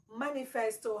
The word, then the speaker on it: manifesto: e s t o Manifesto has four options and the correct the correct uh and the correct syllable stressed is ma the correct Sy stressed is ma your pressure is on Ma learn to pronounce